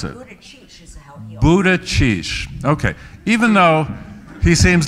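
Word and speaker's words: Buttigieg: it food is egg so how do you pronounce it Buddha sheesh okay even though he seems less a grouchy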